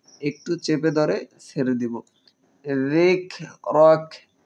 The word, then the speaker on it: ذكرك: ওয়ারাফা'না লাকা যিকরাক। কাপের উচ্চারণগুলো একটু চেপে ধরে ছেড়ে দিব। যিকরাক, জাল পাতলা হবে। যিকরাক।